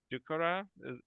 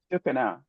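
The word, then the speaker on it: ducana: And I'm going to make you fungi, or I'm going to make you dukara. Did I say it right? Dukana. Dukana, right? Dukana.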